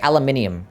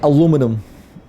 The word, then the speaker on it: aluminium: We say it how we spell it. Aluminium. You guys say it how you spell it. I forgot to get golden vowel. We don't say aluminum. Because we don't spell it like such.